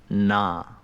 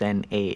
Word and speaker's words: na: Like, for right-hand drum, we have a syllable called na, which is N-A, na, like that's na. That's na.